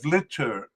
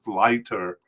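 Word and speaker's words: Vlijter: Uh for those listening, it's spelled V Li Jer. I think it's lighter um uh at least to to non- Netherlands people.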